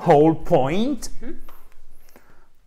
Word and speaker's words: whole: Alors, on prononce pas le W, évidemment, et point. OK? Un peu comme si vous êtes sur un trampoline, ça fait boing, boing, point. Yes. OK? Point. Point, whole point.